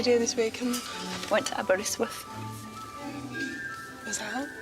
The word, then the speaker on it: Aberystwyth: Banger and Aberystwyth. Am I saying it right? Aberystwyth. Aberystwyth. How can I help?